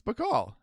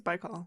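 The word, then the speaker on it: Baikal: It's beall I think it's by call.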